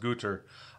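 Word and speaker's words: Goethe: And as I understand from those who speak German, it's pronounced Guter.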